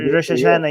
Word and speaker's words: Rosh Hashanah: It's Rosh Hashanah. Is that how you say it? Rosh Hashanah? Rosh Hashanah, yes.